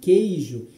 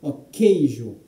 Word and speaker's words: queijo: O QU de queijo, ele corresponde a um único som, a um som de K, queijo.